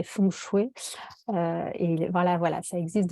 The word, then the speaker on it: Feng Shui: d'énergie possible le terme Feng Shui ça veut dire vent et eau donc je le prononce à la française mais sinon c'est fondu et voilà voilà ça